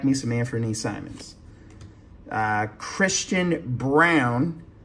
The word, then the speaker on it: Braun: Christian Brown. Spelled Braun, but actually pronounced Brown, which I found out during the finals.